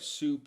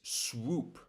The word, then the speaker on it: swoop: those two words because it sounds like soup to me and I know that's not right. It's not soup. It's swoop. Swoop, not soup. Soup is different, but swoop. Swoop. You can pronounce um the word whoop. Whoop. You can practice this whoop. And then go from here to swoop.